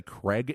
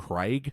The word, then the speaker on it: Craig: isra Craig CRA um it's always weirded me out how Americans Say Craig instead of Craig shout out to American audience do you know there's an A and an i in there have you ever heard